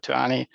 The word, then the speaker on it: Ani: And there's 2 different I's in Turkish. There's a dotted I and an undotted I. And the undotted I is pronounced eh. So that changed the pronunciation. By removing the dot, it changes the pronunciation from Ani to Ani.